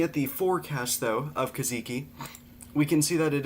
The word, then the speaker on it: Kajiki: So, Kajika, I think it's Oh, no. I forgot how to forgot to look up the pronunciation of this storm.